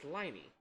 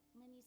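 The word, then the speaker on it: Lyney: I keep trying to say his name is Liney, but that's not the case. Remember, Linny, like Lynette.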